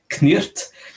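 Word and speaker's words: cniht: ça s'écrit C-N-I-H-T, en le prononçant en anglais de l'époque, ça donnerait Knirt, et si on a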